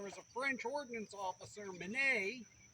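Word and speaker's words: Minié: a French ordnance officer, Minet, often mispronounced Mini in this country, and he developed an elongated ball that was slightly smaller than the bore of the rifle.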